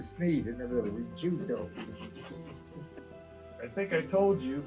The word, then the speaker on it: Riccuito: Riccuito. Riccuito. Boy, I butchered that. Somehow I was getting an I in there somewhere. Well, CC is CU in Italian.